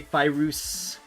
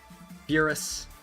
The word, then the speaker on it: Ferus: Some people call me Fyus Fouse. Ferus.